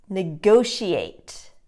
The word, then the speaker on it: negotiate: this word negotiate negotiate students often make the mistake of saying negotiate and they put the again the syllable stress in the incorrect place so in the word negotiate the second syllable is stressed like go like and then she ate actually negotiate practice that one